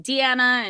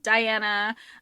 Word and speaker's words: Dianna: We have Liam and we have Diana, and we'll probably say her name interchangeably, like Deanna and Diana. It's spelled Dianna for the story.